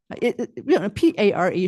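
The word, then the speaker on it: PARE: a better word, from PAR. P-A-R-E should be PAR, just so you know. Okay, so PAR, even though it's spelled P-A-R-E.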